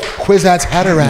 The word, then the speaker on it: Kwisatz Haderach: Especially because she was like, Kwisatz Haderach. Oh, perfect. A little shimmy. Perfect pronunciation, man.